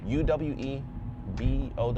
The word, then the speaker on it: Uwe Boll: I think it's Uwebowl. I think it's spelled Boll like normal. Normal for English, obviously. But definitely look into that if you've never heard of him, because he's done things.